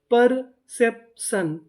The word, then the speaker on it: परसेप्शन: PER पर, CEP सेप, पर सेप, TION। आपको पता है कि इसे क्या पढ़ना है? शन, तो मीनिंग क्या बनी? परसेप्शन, परसेप्शन, परसेप्शन का मतलब होता है दृष्टिकोण।